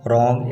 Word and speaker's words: wrong: Listen to the word wrong in which the beginning W sound is silent.